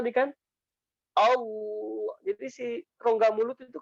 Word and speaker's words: Allah: Tapi kalau yang tebal, contoh yang tebal, kalau contoh yang tebal nih seperti ini. Saya contohnya Allah ya. Allah, Allah. Nah jadi dia rahang ke akar, kemudian rongga mulutnya itu jadi ngebuat cekungan kayak gitu.